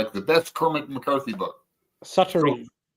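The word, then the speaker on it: Suttree: I haven't watched it yet, but he claims that Sultry is his the best Cormac McCarthy book. Suttery. Suttery, I believe is how it's pronounced.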